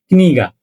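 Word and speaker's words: книга: নতুন একটা ওয়ার্ড কিন্তু শিখে ফেললাম সেটা হল কিনিগা আমরা সেটাকে কিভাবে লিখব কে এননি গেনি গাগা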